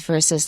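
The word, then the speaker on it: versus: colder now let's address that right away the pronunciation in english is verses like wesley said it is a latin word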